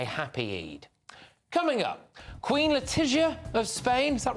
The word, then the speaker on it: Letizia: Coming up, Queen Letizia of Spain, is that right? Yeah, well, that's the right pronunciation.